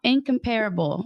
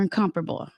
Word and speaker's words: incomparable: I is for incomparable or incomparable. I think they can be pronounced both ways.